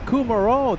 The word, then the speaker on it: Kumaro: Kumaro. That's right. It's a W. All this time I thought it was a V.